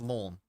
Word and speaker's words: Lens: Just cuz just cuz Lens is pronounced lawn.